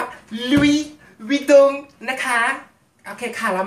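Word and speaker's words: Louis Vuitton: อ่า กล่อง อ่า กระเป๋า ลุย วิง นะ คะ เขา อ่าน ว่า ลุย วิง นะ คะ โอเค ค่ะ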